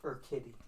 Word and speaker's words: Urquidy: Curtis Melbourne says it's pronounced Urquidy.